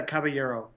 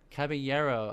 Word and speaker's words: Caballero: Is it Caballero? Is that how you say it? It's a Caballero. Caballero.